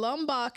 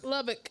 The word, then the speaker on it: Lubbock: How you say it? Lubbock.